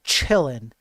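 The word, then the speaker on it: Qilin: So if you if you remember uh chillin which is uh spelled with a Q but because it's from China you you say ch the q is the ch right.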